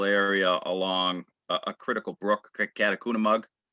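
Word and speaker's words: Catacunemaug: a substantial area along a critical brook, Catacomb, which is how you pronounce it.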